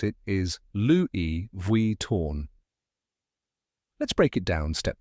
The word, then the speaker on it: Louis Vuitton: to pronounce it is Loui V torn let's break it down step by step the first part is Louie just like the French name Louie and the second part